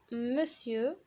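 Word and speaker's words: monsieur: ام او بوان هي مسيو، مسيو كتكتب مونسيور ولكن كتنطق مسيو، مسيو كيقولوا مسيو فلان مسيو فلان مسيو فلان يعني سيدي.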